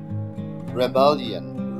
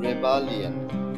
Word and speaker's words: rebellion: রেবালিয়ন, রেবালিয়ন, এখানে REBELLION, এখানে REBE হলেও উচ্চারণটা হবে রেবালিয়ন, রেবালিয়ন, রেবালিয়ন।